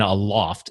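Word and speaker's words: Aloft: I've never stayed in a loft. It's actually pronounced a loft, right? Not a loft. So I pronounce it a loft. Yeah. Yeah. A-loft. Okay. So a loft is this.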